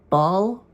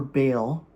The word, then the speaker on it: Baal: Bal or Bale, I guess, is I think is the English way of pronouncing it, is not part of our canon.